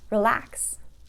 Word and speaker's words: relax: Another example is relax. I want to relax. Okay, also verb, 2 syllables, relax, and the stress is going to go on the last syllable.